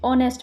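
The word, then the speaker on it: honest: नेक्स्ट question है 27 है ही is dash ऑनेस्ट मैन, ऑनेस्ट H silent है तो ओ पड़ा, तो यहाँ पर एन आ जाएगा, यहाँ पे वॉबल साउंड आ रहा है, ऑनेस्ट मैन।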